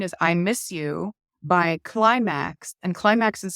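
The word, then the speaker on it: Klymaxx: Number 14 is I miss You by Climax, and Climax is spelled K L Y M A X X.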